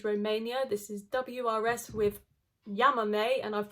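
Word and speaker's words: Llámame: This is WRS with Yamame, and I've pronounced it correctly now because in my video I called it Yamame.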